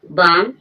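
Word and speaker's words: bomb: जैसे को मीन्स कंगनी यहां पर जो एम के बाद बी आई है वह भी साइलेंट रहेगी। बम बम मीन्स होगा बम।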